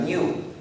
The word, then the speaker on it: GNU: En castellano se puede pronunciar new. Es más fácil, hemos observado, para los que hablan castellano. Es más fácil decir new en lugar de GNU.